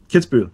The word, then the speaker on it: Kitzbühel: On a hill farm outside Kitzbühel, how's that pronounced, Mackie? Kitzbühel, yeah, that's right.